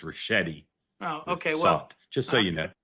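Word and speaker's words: Ricchetti: I I will politely and and gently say tell you the name his name is pronounced Rashetti.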